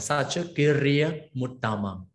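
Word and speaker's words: saccakiriyā uttamā: Okay, so when you combine this u to m, right, this dot is removed, so you have to pronounce like sacha kiriya utama.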